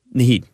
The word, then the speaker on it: Naheed: Now, is that how you pronounce his first name? Naheed, yeah.